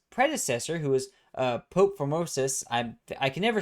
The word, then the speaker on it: Formosus: who was uh Pope Formosus I I can never say his name right. I've heard so many people say it but I can never say it. Formosis I think is how you say it.